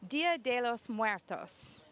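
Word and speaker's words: Día de los Muertos: I am standing here today with Evan, and Evan is going to talk to us about Dia de los Muertos.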